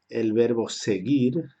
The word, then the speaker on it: seguir: Esta U solo se escribe delante de I y delante de E, porque es una U muda como hemos estudiado en fonética.